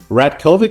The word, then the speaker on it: Ratkovic: Rat Kovic, is that how you say your name?